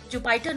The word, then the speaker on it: Jupyter: Now I am coming towards the Jupyter notebook. You can call it Jupyter notebook also. Both are correct. Both pronunciations are correct.